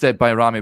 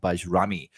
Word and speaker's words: Bajrami: uh Nadim bami and uh uh and it's pronounced byamy we got that pronunciation from an Albanian football expert that we had on to discuss Nadine bamy that is how you pronounce his name not baj Rami so uh there you go and uh he